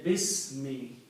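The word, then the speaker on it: بِسْمِ: Also, when we read together, we do not pronounce this alif. We say Bismi.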